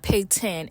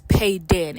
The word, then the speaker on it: Peyton: hate that name cuz it's not pay 10 it's payen and then the way it's